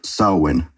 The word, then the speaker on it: Samhain: the beach and point out that it's actually pronounced sulwon as every smartass wants to say but continued